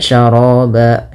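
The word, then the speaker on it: شرابا: Ya, syaraba, ya, mad iwad yang ada di huruf ba. Mad iwad itu fathatain bertemu dengan alif di akhir bacaan, dan tidak terjadi tidak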